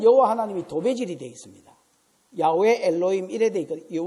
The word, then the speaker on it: 야훼: 야훼 엘로힘 이래 되어 있거든요. 원래 여호와라는 말은 발음이 안 좋고요. 원래 원어로 하면 야훼입니다.